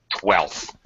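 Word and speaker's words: twelfth: Of course, 12th has an F in it, but the fact is we pronounce it like without the F. Basically, we're gonna pronounce it 12th.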